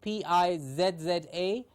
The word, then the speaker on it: pizza: Please remember the pronunciation of P-I-Z-Z-A. It sounds like there is a T in the middle, Pete and za, pizza.